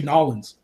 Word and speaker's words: New Orleans: I'm right above Louisiana they don't say New Orleans they say N'awlins no it's some touristy